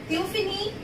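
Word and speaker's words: tu finis: The fini, tu fini, il fini, L fini. S, S, T, T. These all are consonant, and we never pronounce consonant in the end.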